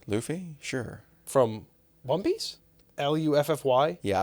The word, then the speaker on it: Luffy: sure from One Piece l u ffy yeah I would say it's Luffy but it's probably that way yeah but like to me it's spelled like fluffy we don't say fluffy do we so be Luffy